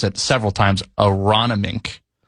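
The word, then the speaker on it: Aronimink: It's at and I've had to look up how to pronounce it several times. Aronomink.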